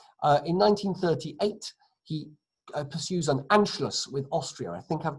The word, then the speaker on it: Anschluss: a title, N, S-C-H, because sh in German is spelled S-C-H, and then L, U, and then an S set.